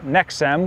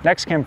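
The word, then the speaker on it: Nexcem: on this project is made by nexam which I have been pronouncing nextcam for years so apologies for that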